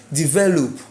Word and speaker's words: develop: Which syllable has the stress in develop? Is ve. So as far as ve has the stress in develop, whether you add ment or not, the stress remains on that syllable, which is what?